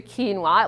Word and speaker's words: quinoa: out there for you quinoa it looks very different than how it's pronounced I know sometimes people